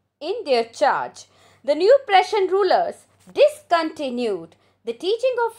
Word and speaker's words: Prussian: when the prussian pressure not prusion please learn the correct pronunciation prussian forces under bismarck under